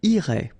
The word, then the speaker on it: irais: Same thing here, final S not pronounced.